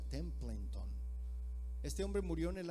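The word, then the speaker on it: Templeton: charles tem en tron así se pronuncia templo en ton este hombre murió en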